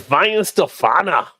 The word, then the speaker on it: Weihenstephaner: It's Weihenstephaner. By Hefeweizen. How do you say it? Kind of like Shannon's brothers. You got to pronounce the R really. It's Weihenstephaner.